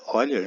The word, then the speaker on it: Euler: Na metade do século XVIII, o matemático suíço Leonhard Euler, se pronuncia Euler, né, concebeu a ideia de denotar funções pelas letras do alfabeto.